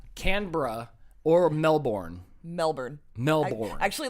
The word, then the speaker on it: Canberra: or is it Melbourne I think you have to get rid of a syllable there I think it's more like camera canbra or Melbourne Melbourne Melbourne